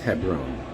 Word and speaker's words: Hebron: the image on the right apparently it is pronounced Hebron the image on the left is actually Tel